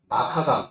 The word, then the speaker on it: 마르카강: 르라고 하는 건 이런 겁니다. 묵음이에요. 마카강 이렇게 되거든요.